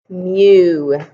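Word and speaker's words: μ: It looks like kind of like a crazy U kind of symbol, and it's pronounced mu. Mu.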